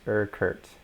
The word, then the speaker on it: Urquhart: And I just heard from Carrie that it's pronounced Urquhart.